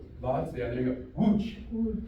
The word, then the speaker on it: Łódź: Łódź. Right? You got your w and a u, the j, łódź.